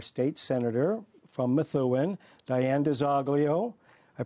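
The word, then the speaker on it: DiZoglio: senator from Methuen Diane des Aglio I pronounced it the American Way right now des olio as they would in in Sicily you can pronounce it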